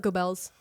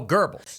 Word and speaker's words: Goebbels: Yes, Robert De Niro, quote, called him, how do you say that guy's name? Not Goebbels. Oh, Goebbels. He called him Goebbels.